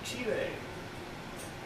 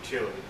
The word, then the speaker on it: Chile: week we're going to head to eBay or Chile depending on how you pronounce it so in the past